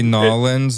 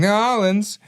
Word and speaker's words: New Orleans: little heads up, Connor, it is not New Orleans. It's not like you're leaning. It's New Orleans. Or it's like Mike said, Nolans. That's the Midwest pronunciation. The Utah pronunciation is New Orleans. No, it's simply Nolans. That's what you have to say.